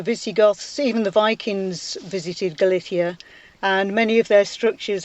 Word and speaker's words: Galicia: You're pronouncing it with a Castilian pronunciation, so you're saying Galicia and I'm saying Galicia, and I may not be able to change my pronunciation. The answer to either. And in fact, in Galician, it's Galicia with a Z.